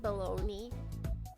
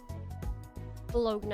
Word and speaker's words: Bologna: Why do we pronounce it baloney? What language are we pulling from for that? It's wrong. Bologna is the better way to say it.